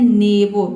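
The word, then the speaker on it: neighbour: भी साइलेंट हो गया और दोनों वावल भी साइलेंट है यहाँ पे। ठीक है, यहाँ पे हम इसको पढ़ते हैं नेबो।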